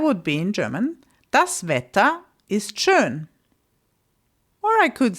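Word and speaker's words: schön: In German, it's shun. So I could be saying something like the weather is nice. That would be in German is churn.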